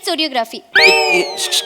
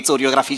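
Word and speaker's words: choreography: काय बोलताय चोर असते कोरियोग्राफी शिकवणार मॅडम कोरियोग्राफीला चोरियोग्राफी म्हणतात काय कोरियोग्राफीचा स्पेलिंग सीएच पासन सुरू होतं तर त्यांचं म्हण आहे तर ते च आहे मी च म्हणणार मॅडम इंग्रजीचे नियम पाळत नाही पण मग केमिस्ट्री म्हणायचं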